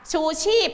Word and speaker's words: ชูชีพ: จม น้ำ นะ คะ ใช้ พ. พาน เป็น ตัว สะกด แต่ เวลา เขียน อาจ